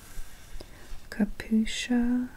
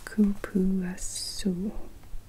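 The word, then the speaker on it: cupuaçu: Kapusha butter. No, kupuasu. Tubuasu butter. That's how you pronounce it.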